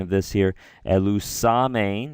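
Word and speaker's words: ἐλυσάμην: I'm going to just give a little pronunciation of this here. Elusamein, right?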